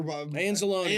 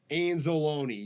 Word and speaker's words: Anzalone: I think he's Italian anzalone yeah his name rhymes with Cal zalone I would hope so